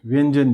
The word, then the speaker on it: व्यंजन: हम इसकी बात करें व्यंजन की, तो देखिए क्या होता है कि व्यंजन के लिए व्यंजन, इसका प्रोनाउंसिएशन य में किया जाता है, न्य, व्यंजन व्यंजन, ये इस तरह से चलता है।